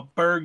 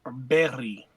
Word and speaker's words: Berg: new the first time somebody put a a Berg in my hands I'm sorry it's technically called a berry pretty good pronunciation that's annoying yeah somebody brought it up